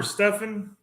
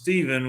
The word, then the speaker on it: Stephen: is it Stefan or Stefan see my name is pronounced Stephen with a p in and people always mispronounce it Stefan or Stefan which is fine whatever all